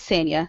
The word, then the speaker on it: Sanya: Okay, so the community manager over there is Sanya Weathers, and I didn't say it wrong. It is Sanya.